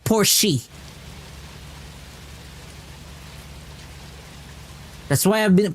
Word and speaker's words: Porsche: But when you pronounce the word the the word Porsche, you don't pronounce the E. There's no E in Porsche. Porsche. It's Porsche, not Porsche.